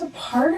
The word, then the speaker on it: apart: part of you she's a part of you meanwhile apart is an adverb referring to the state of being separated by distance time or space we stress on the second syllable apart and there is no